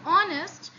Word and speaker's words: honest: In honest, we do not pronounce H. We do not say honest. No, we only pronounce O. We only pronounce O and the further letters.